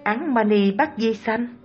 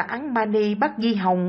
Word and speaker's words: Án Mani Bát Di Hồng: Bà lão ơi, bà đã đọc sai câu thần chú đó rồi, phải phát âm là Án Mani Bát Di Hồng mới đúng.